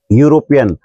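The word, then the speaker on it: European: प्रयोग करते हैं जैसे यूरोपियन यानी यह ई से शुरू हो रहा है लेकिन ई साइलेंट रहती है और य से हम इसका उच्चारण करते हैं इसलिए हमें एक की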